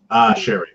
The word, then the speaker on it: Sherry: conversation between sherry and is it pronounced sherry by the way Dave cherish chery chery as in as in the drink sherry sherry okay okay so if